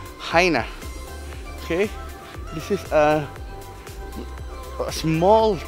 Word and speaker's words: Chania: with a CH a ni a but it's pronounced Heine okay this is a small town in the